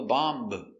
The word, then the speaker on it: bomb: Remember, no B, no bomb, just bomb. Bomb is countable. This is a bomb. The bomb will explode. Pronunciation. Bomb. B. A. Ba. B. Bomb. Open sound. Ah.